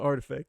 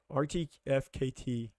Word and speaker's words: RTFKT: air i was like yo we're pronouncing this wrong imagining i was sitting here like rtfkt like we got to say that every single time yeah this brand was created to intentionally be an acronym all the time because